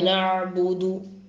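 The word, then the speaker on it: نعبد: നഅബുദു അവിടെ നൂന് ഐന് ബാഉ ദാലാണ്. നഅബുദു, നഅബുദു, നഅബുദു എന്ന് തന്നെ ഓതണം. നഅബുദു ആയി പോകാൻ പാടില്ല, നഅബുദും ആവാൻ പാടില്ല. ഇയ്യാക നഅബുദു, ചിലർ ഇയ്യാക നഅബുദു, നഅബുദു എന്നത് ഐനൊക്കെ കൃത്യമായി വരണം.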